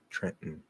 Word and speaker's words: Trenton: in trenton or no trenton uh no we we treat this like mountain um so trent now